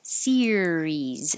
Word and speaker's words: series: word series and Sirius so series is two syllables and Sirius is three like sunflower one two three serious and um the